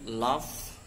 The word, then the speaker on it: laugh: For example, laugh, which end with gh but sound like f.